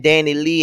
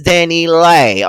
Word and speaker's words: DaniLeigh: I've been saying DaniLeigh, and ain't none of y'all been correcting me. I guess y'all don't like the girl and don't give a damn about me mispronouncing her name. But however, this is DaniLeigh.